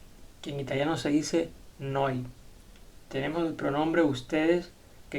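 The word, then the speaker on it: noi: Tenemos el pronombre nosotros, que en italiano se dice noy.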